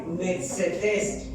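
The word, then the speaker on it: μαθητής: Y esta palabra discípulos viene del griego metzetes, con acento en la última E, metzetes, que quiere decir aprendiz, alumno y hermano como tú y como yo, que compartimos una fe.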